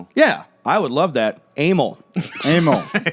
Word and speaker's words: Emil: How would you pronounce this? E M I L. Emil. Yeah, I would love that. Amal.